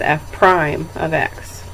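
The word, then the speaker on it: f′(x): x so that f it looks like kind of an apostrophe um we pronounce that as F Prime of X so it's just a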